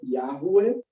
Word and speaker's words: Yahweh: Você tem aí uma conjunção do termo Yah, que nós chamamos de Jeová, como os sinais diacríticos inerentes a esse nome se perderam, o mais provável é que a pronúncia seja Yahweh, né?